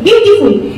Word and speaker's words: beautiful: বিউটিফুলটাকে আমরা চট করে উচ্চারণ করে দিই, বিউটিফুল। কিন্তু না, what is the spelling of বিউটিফুল? B-E-A-U। তাহলে যে ই আর এ সাউন্ড আছে, তার জন্য আমরা একটু ঘুরিয়ে উচ্চারণ করব, বিউটিফুল।